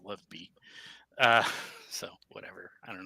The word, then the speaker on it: LOVB: as they say it they call it love volleyball um but it's spelled lovb which I'm gonna say is love be uh so whatever I